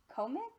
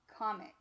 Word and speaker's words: comics: First syllable, com. Second syllable, ix. Try for the real word, comics. Oh, my friends, I'm hearing comics.